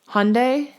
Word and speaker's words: Hyundai: so we got a Hyundai Hyundai I don't know how to freaking say it everyone tells me something different someone said in my comments to say it like Monday with an H Hyundai Hyundai I don't know